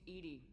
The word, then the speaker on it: EDI: Hi, Edie. I want to know more about you. Do you have a specific inquiry? Why are you named Edy?